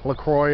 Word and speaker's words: La Croix: heard of la croix lacroix it's like i think it's pronounced lacroix it's like a sparkling